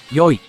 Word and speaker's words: 良い: Originally, the adjective いい was pronounced 良い and written using kanji as shown.